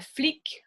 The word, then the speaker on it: flic: Le C est généralement une lettre prononcée à la fin. So usually the C would be pronounced. Un truc, a thing, un flic, a cop.